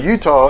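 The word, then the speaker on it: Eutaw: silly goose in Alabama it is e-u-t-a-w now look I don't want to be a dick to Alabama but frankly come on guys I would think that Utah should be spelled like the state but the [ __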